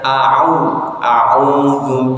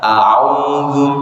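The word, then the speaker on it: أعوذ: A'udzu billahi minasyaitonir rajim. Monggo. Rata-rata masih kedengaran itu A-nya itu masih belum ain, jadi masih A-U.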